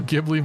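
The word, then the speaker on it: Ghibli: question for any Studio gibli Movie Studio giblet oh yeah it's pronounced jibli isn't it technically yeah oh wow they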